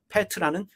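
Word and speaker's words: πέτρα: 페트로스는 남성 명사이고 페트라는 여성 명사입니다. 페트로스, 페트라 같은 말입니다. 반석이라는 뜻입니다. 시몬의 이름을 너를 이제 페트로스라고 부르겠다라고 말씀하시면서 그 페트라 위에, 그 반석 위에 내 교회를 세우는데 그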